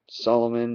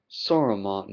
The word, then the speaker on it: Saruman: of the Elves, uh, Solomon the White, not Solomon, uh, Solomon, or what did it say his name was? Saruman the White, not Solomon, Saruman.